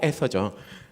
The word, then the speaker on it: 에서: 예, 에스가 아니고 에서죠.